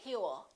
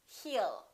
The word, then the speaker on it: he'll: you he will remember don't pronounce that w a lot of my students still tend to put a little W on they say he'll it's not he'll it's he'll he'll he'll call you